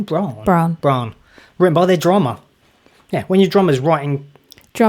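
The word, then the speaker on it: Brann: How do you say his name? Braun.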